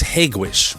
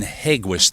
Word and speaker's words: Hegewisch: the town's called Hegewisch a proper way to pronounce that is Hegewisch a lot of people just say Hegewisch but I know this